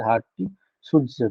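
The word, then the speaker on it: Hardy-Schulze: That is pronounced as Hardy-Sujci rule.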